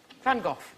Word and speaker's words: van Gogh: The correct Dutch pronunciation is Vincent van Gogh.